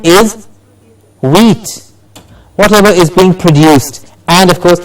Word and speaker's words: produce: again, is a very important component of the pronunciation of a word. Yes, present, present, and then we have the next word, produce. Produce.